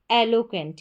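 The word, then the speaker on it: eloquent: और फिर है क्वेंट, जैसे मैंने बताया कि QU को क्व और ENT उसमें जोड़ देंगे तो एंट हो जाएगा, क्वेंट। एलोक्वेंट। एलोक्वेंट, ये इसका उच्चारण है, एलोक्वेंट।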